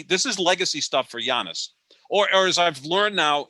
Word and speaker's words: Giannis: is legacy stuff for giannis or as i've learned now is the correct pronunciation of his name is yanis and i learned that from my good friend yanis it's like why a niece because i learned that